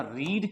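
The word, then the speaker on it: read: और किताबों को ना रीड किया जाता है तो आई हैव रीड रीड का थर्ड फॉर्म चाहिए स्पेलिंग सेम रहेगी बस बोलेंगे रेड आई हैव रेड उस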